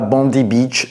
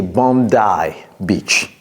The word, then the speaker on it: Bondi Beach: D'abord, la prononciation n'est pas Bondi Beach, c'est Bondi Beach.